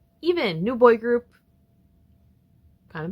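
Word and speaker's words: EVNNE: Thank God I learned how to pronounce this group's name before I recorded, because I would have looked like a fool saying EVNEE. Even, new boy group, kind of bangs.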